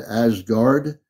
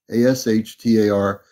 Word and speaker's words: Ashtar: just said and it's actually Azar command not azgard uh it's Azar Lee it's as h t r command Azar as h t a r if you're having trouble pronuncia it it's ashtar